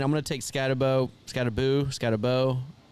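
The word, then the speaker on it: Skattebo: Scatteraboo. Scatterabau. How do you say it? Scatabo.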